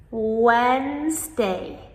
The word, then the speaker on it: Wednesday: Wednesday Wednesday So, even though we spell it w e d, we do not pronounce the d.